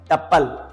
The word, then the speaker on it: tuple: TUPLE pronunciation इसका होता है टपल।